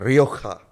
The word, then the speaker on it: Rioja: Is that how you pronounce Rioja. it? Rioja.